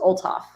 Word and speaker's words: Olthoff: So, easiest way is just ignore the H. The H does not exist, you guys. It's just Olaf.